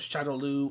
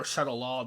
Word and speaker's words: Shadaloo: But, as far as the character goes, he is one of the four heads of Shadaloo or Shadalaw, depending on how you pronounce it and what version you're looking at.